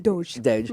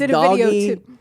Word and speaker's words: Doge: I didn't even know how to say it until about a week ago. Somebody on Twitter was like, it's Doge. Doge. I thought it was Doggy.